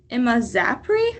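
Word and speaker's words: imazapyr: Um Emma zapri is how you say it and trifopir um can be effective only when applied to cut stumps.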